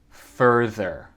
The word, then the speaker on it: further: Donc, les deux R sont un peu plus doux. Je crois que c'est parce que c'est à la fin du syllabe.